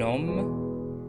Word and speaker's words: homme: Prenons un petit exemple, un homme, un hôtel. Rappelons toujours que le H muet, c'est un H qui ne se prononce pas et qui n'a pas une grande influence sur la prononciation du mot.